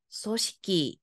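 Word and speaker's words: 組織: 한다 그죠 자 갑시다 직자 어떻게 읽었어요 식기로 읽었어요 조는 여러분 소 짧습니다 발음해 보세요 조직이 뭐라고요 소시키 아이 자 그다음 넘어가서 식자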